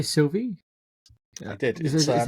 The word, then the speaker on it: Sylvie: It's not Sylvia.